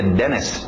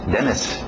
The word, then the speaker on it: dentist: Evitamos os T's, lembra? Então tira esse T, dentist, dentist, go to the dentist today.